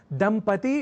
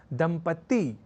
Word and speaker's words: दंपति: दंपति इस शब्द को लिखने और उच्चारण के क्रम में लोग दंपत्ति या दंपत्ति जैसे प्रयोग कर दिया करते हैं और